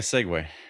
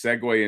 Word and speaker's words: segue: segue they're like let's segue into this and they always write it seg w a y because naturally that's what you think of segue.